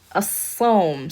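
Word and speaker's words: الصوم: Sad is a sun letter. Therefore, it's pronounced with a shadda, and we do not pronounce that lam here.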